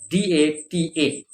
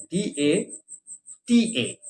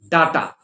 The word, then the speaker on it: data: But anyway, the word associated with it is D-A-T-A. Okay? D-A-T-A. It is not data, like the Americans may say, because the Americans don't know how to pronounce certain things very well.